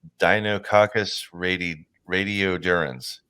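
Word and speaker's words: Deinococcus radiodurans: you two especially will love this uh it's pronounced Dino cacus radi radiodurans right in the scientific Community it is known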